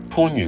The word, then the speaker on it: 番禺: 以香港人嘅使用習慣為例，番禺嘅番唔係讀作一番好意嘅番，阿房宮